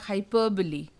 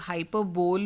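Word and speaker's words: hyperbole: Next word है हमारा हाइपरबली. इसको लोग हाइपरबोल बोलते हैं लेकिन ये होता है, करेक्ट प्रोनाउंसिएशन है इसका हाइपरबली.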